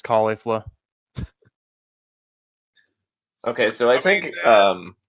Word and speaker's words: Caulifla: things correctly I thought I thought it was Khalifa but apparently I just saw some CL some clips of the of the dub and super and it's caulifla okay so I think